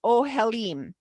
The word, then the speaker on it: ohel: This is the Hebrew word that, which is pronounced ohelim. A single tent is ohelm, I guess, which is pronounced ohel. Oh, I guessed it right.